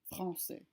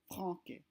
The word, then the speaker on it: français: Français. Notice how the word is pronounced français instead of franquais. So it's changed to more of an S sound instead of a K sound.